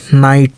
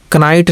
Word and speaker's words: knight: जैसे KNIGHT, नाइट, इसको कनाइट नहीं बल्कि नाइट ही पढ़ेंगे, के का उच्चारण नहीं करेंगे, सिर्फ यन से लेंगे।